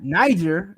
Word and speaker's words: Niger: God you got Niger you got Niger is how they say you supposed to pronounce it and you got Nigeria